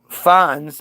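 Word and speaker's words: fonds: FS, pronounced fs, is an archival term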